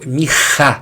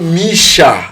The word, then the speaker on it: Micha: Em hebraico, Mirra. Mirra. O CH tem esse fonema. Pra você brasileiro não errar, põe Misha. M-C-H-A que você não vai errar.